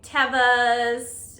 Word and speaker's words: Teva: By the way, I recently learned that it's pronounced Teva and not Teva. I've been saying it wrong for about 20 years. But shout out to my friend Jukebox who works at REI and told me that it is Teva, and then I looked it up and yeah, it's Teva.